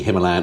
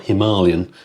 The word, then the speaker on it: Himalayan: announced the release of the brand new 450cc Himalayan or Himalayan as it's correctly pronounced uh what I'll do is I'll read